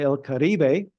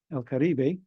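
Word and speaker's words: El Caribe: either of those um they would say el karbe el karbe or Les karib I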